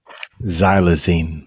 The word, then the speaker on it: xylazine: is it the xylene what how do you pronounce it again xylazine xylazine is it the xylazine that causes the